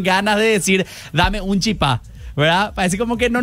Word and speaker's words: chipá: Bueno, entonces ahora sabemos que lo correcto es decir el chipá. El chipá. El, o sea, el masculino y chipá con acento en la A.